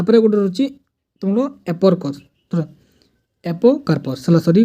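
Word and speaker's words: apocarpous: को सेपस बोली को ता पर तुम एपरस एपोकार्पस सॉरी प्रोनाउंस मिस्टेक एपोकार्प को फ्री कार्पेल और फ्स्ट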